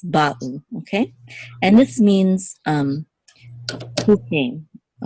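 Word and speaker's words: באו: So same thing with Hebrew here. We say ba'u, ba'u.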